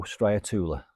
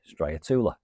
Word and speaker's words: Striatula: Now in America, I think they call it Striatula. It's all about how you pronounce it. I say Striatula.